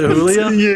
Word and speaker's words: Julie: Is it Julia? It's Julia. I mean, it's spelled like Julie, but no, it's it's Norwegian, man. You got you got to Yeah, you got to make everything almost German.